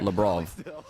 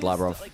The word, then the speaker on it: Labrov: sounded like LeBron like Labrov. I don't know. I've just said Labro forever then no one's corrected me. As I understand it, it's Labro.